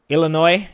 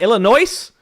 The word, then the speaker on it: Illinois: correct way please uh Illinois I can start by removing the S it's not Illinois Bob we about to